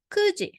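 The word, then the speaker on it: 九時: will say cheating then nine o'clock it's um kuji not the Cutie so so those one is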